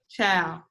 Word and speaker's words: ciao: not that way of ciao it's like this let me type it again because remember we're all learning new things ciao but it's you say it like child like ch o W let's all say ciao